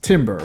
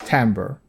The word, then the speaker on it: timbre: And finally, uh this word, which seems like it is pronounced timber, but actually is pronounced timbre. Blame the French.